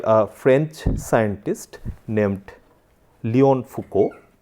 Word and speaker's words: Foucault: So, that was first done by a French scientist named Léon Foucault. Do not go by the spelling, the actual pronunciation will be Foucault, and that was first demonstrated in 1951.